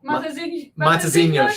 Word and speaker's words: Matosinhos: Matosinhos.